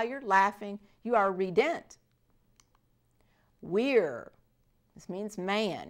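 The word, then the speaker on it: vir: laughing you are redent Weir this means man remember our V is pronounced like a w so Weir SS same V SS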